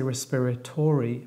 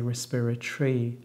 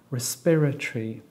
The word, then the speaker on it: respiratory: respiratory has now respiratory only has four syllables because we don't pronounce the O so we don't say respiratory but we say respiratory so it only has